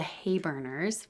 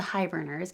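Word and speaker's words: Heiburners: had started called the Hayburners, which everybody said pronounced as the Hiberners because it was spelled H-E-I, but it was like sleigh, hay, but it didn't matter. Everybody said hi, the Hiberners. I was like, whatever.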